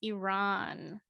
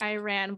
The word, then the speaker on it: Iran: what is happening in Iran I used to say Iran but I think the correct pronunciation is Iran so there's been a